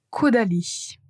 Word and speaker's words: Caudalie: Et finalement Caudalie. Caudalie. Si c'était difficile à prononcer ces marques, je vous invite à répéter cette partie juste pour vous assurer de bien prononcer.